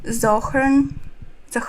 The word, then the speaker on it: Zohran: to rehab room how Zoharn Mandan Mani rages about dating. I grow a beard only to be called a ter a terrorist. I pronounce the H in my name only to hear muffled gloves.